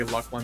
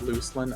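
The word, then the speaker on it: Lucan: soon thank God you you say luckin the appropriate way not loosin oh my God that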